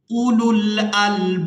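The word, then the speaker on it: أولو الألباب: के साथ मिला देंगे, वाव यहाँ पर भी साइलेंट ही रहेगी क्योंकि ये वाव भी रस्मुल खत है। हमजा पेश उ, लाम लाम पेश लुल, उलुल, हमजा लाम जबर अल, बा अलिफ बा जबर बाब, उलुल अलबाब, वलियतज़क्कर उलुल अलबाब, किताबुन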